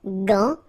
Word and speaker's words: gant: Remember, G-A goes like ga. Okay, g. But in that case, you've got this N, so it's nasal, gant, and then final T is not pronounced here.